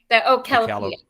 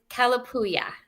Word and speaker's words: Kalapuya: Kalapuya. It's native. It's Kalapuya. There were the Kalapuya Native Americans that live in this area.